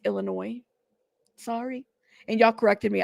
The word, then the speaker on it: Illinois: I've said Illinois before on a video it's Illinois sorry and y'all corrected me I laugh because my pronunciation of the name in places could use